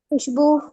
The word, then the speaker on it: खुशबू: सर वही खुशबू। वही तो इस पे तो या सर वो यो वहाँ, खुशबू में हाँ खू में वाव साइलेंट है लेकिन बू में है।